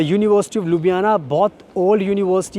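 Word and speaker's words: Ljubljana: बहुत थोड़ा जब आप इसको स्पेलिंग पढ़ोगे अल्फाबेट्स पढ़ोगे तो कंफ्यूजन हो सकती है। बट लुबियाना इसको नॉर्मली प्रोनाउंस कर सकते हैं इजी वे में।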